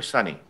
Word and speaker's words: Sony: And so I'm going to start with, I'm not sure, is that Sony or Sunny? How do I pronounce it? Sony. Sony? Yes. Okay.